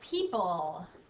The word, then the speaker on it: people: and the pull part it's this really strange o that throws people off a lot of people forget the o and people so don't forget that sneaky o people let's try the